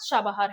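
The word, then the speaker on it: Chabahar: Link to central Asia via शाबाबहार। इसको क्या बोलते हैं? इसको शाबहार भी बोलते हैं। इसको शाबहार भी बोलते हैं। ईरानियन प्रोनाउंसिएशन इसका शाबहार है।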